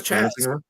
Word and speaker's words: Chas: Are you calling him Chase? Is that how you pronounce it? Yeah, isn't it Chase McCormick? I thought it was Chaz. Oh, it is Chaz McCormick.